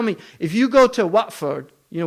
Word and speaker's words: Watford: Because there's no way you can tell me, if you go to Watford, you know Watford in England? It's actually Watford, right? But they say Watford. Why? Because they don't pronounce the T.